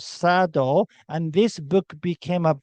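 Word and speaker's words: サ道: Sado is pronounced as sado. Do means like, judo, kendo, aikido's do.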